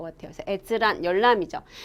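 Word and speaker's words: 閲覧: 이렇게 하면서 그거를 넷즈란 이렇게 하시면 안 돼요. 자, 열은 우리가 여러분 뭐라고 한다고? 여기서 볼 열자는 에즈예요. 에즈. 되셨어요? 그쵸? 열람은 자, 뭐라고 한다? 에즈란이라고 한다. 주의하셔야 되겠죠?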